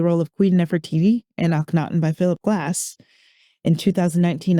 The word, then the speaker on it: Akhenaten: Well, you won a Grammy for Akhenaten. Did I pronounce that Yes, correctly?